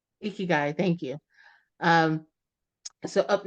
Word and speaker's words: ikigai: uh I'm going to I'm going to Mis pronounce this uh Joe help eeky guy eeky guy thank you um so up next we have